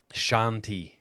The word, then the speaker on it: Shanti: Maybe it's Shantai, but I think it's Shanti.